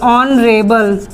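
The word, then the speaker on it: honourable: में एक बार एक्सांपल देते हैं ऑन river ऑन रेबल ऑन रेबल का मतलब होता है माननीय जैसे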